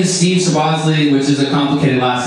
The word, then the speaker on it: Soboslai: complicated last name, so I spelled it out phonetically on a whiteboard. I like to make good use of bulleted lists, so Soboslai. I would draw pictures like of a sub, and then Ozzy Osbourne, and then Bruce Lee,